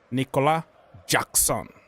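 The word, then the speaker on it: Nicolas Jackson: Remember how he pronounced his name? Nicola Jackson.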